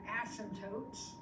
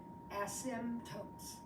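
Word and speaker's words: asymptotes: tangent these are the ASM tootes note the spelling of that word and the p is silent ASM tootes two of them once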